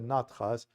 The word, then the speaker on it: Natha: school called Nath Sampradaya, Natha, if you want, for Westerners. The Hindus don't pronounce the final A, as I said it in the Sanskrit language workshop a few days ago.